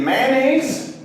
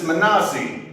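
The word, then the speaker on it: Manasa: Is it mayonnaise? He got really upset and said it's Manasi.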